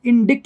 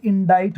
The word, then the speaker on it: indict: ऐसे देखना, ये INDICT ऐसा लगेगा, इसको हम इंडिक्ट बोलते हैं, इनडिक्ट। दिखने में ऐसा लग रहा है इंडिक्ट, बट ये इंडिक्ट नहीं होता है, इंडाइट होता है।